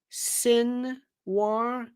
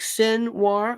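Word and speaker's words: Sinwar: up ftic Yaya sinir sin War s i n w r like sin War well I got see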